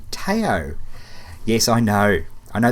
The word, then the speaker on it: Tao: river feed Are you seriously I know it's pronounced Dow that's a joke ta it's pronounced ta a o Tao yes I know I know there's a lot